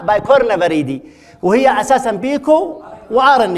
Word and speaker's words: Picornaviridae: فهي متناهية في الصغر، وذاك سموها لأنها صغيرة جدا سموها بيكو وآر إن إيه، بس إحنا ننطقها نقول عليها بايكورنا فريدي، وهي أساسا بيكو وآر